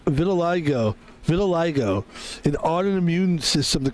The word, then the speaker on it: vitiligo: is a There is like a color called vitilago or something. Hold on. I think it's a skin condition. Is there a skin condition called vitilago? Oh, yeah. pronounced vitil vitil. Yeah, I'm right. Vitiligo.